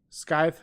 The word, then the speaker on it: scythe: and shed earlier as scythes has a silent K so so scythe okay